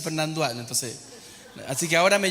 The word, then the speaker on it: Fernandois: Después me acostumbro a decir Fernandoy y digo Fernandoy y me dicen, no se dice Fernandoy, se dice Fernandois.